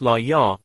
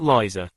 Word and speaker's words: Lysa: "My name is pronounced Li-Ya, not Liza.